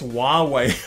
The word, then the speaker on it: Huawei: about the Huawei yes I have looked up how to say the name of the company it's Huawei I've heard of them